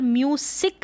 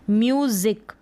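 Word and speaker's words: music: अब यहाँ पर म्यूसिक नहीं पढ़ेंगे, यानी ये जो एस है ना इसका ज है प्रोनाउंसिएशन, क्या है ज है, ज पढ़ेंगे। म्यूजिक, म्यूसिक नहीं म्यूजिक।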